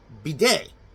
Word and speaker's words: bidet: And remember, when you're pronouncing bidet, do not use the T, or the French will have a shit fit over it.